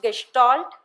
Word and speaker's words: Gestalt: Gestalt is A German term pronounced gestalt Which means hole or